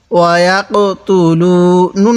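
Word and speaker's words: وَيَقْتُلُونَ: তু, ওয়া ইয়াক তু, লাম ওয়াও পেশ লু, ওয়া ইয়াক তু লু। নুন লাগবে আবার এই নুনের সাথে নান, ওয়া ইয়াক তু লু নান, নুন জবর না।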